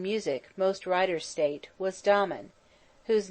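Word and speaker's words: Damon: most writers state was domin whose name they say should be pronounced with the first syllable short but aristotle said he had a thorough musical training at the hands of pitholides now dahman seems to have been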